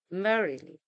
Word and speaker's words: merrily: Merrily, merrily, not merrily, nor merrily. We say merrily.